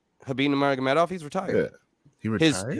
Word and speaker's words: Nurmagomedov: Didn't fight Magdamenov? Am I saying his name wrong? Habib Nurmagomedov, he's retired.